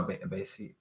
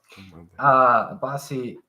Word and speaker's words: Abasi: I guess, and the thing is, like, I really like a Basi. It's Eshe, and I also now I know how to pronounce it.